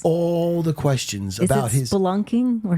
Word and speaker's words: spelunking: All the questions about his spelunking or sherplunking.